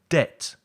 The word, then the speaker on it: debt: these silent letters in words like det for example with a silent b ireland with a silent s foreign with a strange spelling and subtle repeat with me debt island foreign subtle and